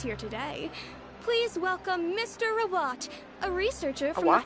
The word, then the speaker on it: Rawat: Rawat, a researcher from the what? Fontaine Research Institute. Now, without further ado, I'll hand over to Mr. Rawat to tell you all about what Rawat?